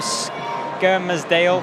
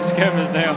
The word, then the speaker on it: Skelmersdale: Up next, we've got 56 kg A-class fight between Alex Jones from Kearsley Muay Thai and Dom Hill from Skelmersdale. That's how you say it, Skelmersdale.